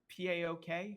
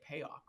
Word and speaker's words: PAOK: You have Marseille, P-A-O-K. How do you say? You just say PAOK, right?